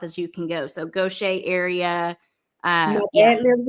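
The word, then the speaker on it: Gautier: And just so you all know, gocha is spelled g a u t i e r.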